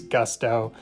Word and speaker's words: gusto: And I just think it's funny because the word gusto in Spanish gets, instead of the gusto, we pronounce it in English with that short U, and it's gusto.